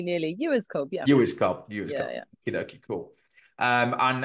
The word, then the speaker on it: Ewers-Cobb: do this but normally I ask for the pronunciation of the person's name and I'm GNA just go with this Cynthia you was cob yeah nearly nearly you as CB yeah you is CB you doie cool um and as I always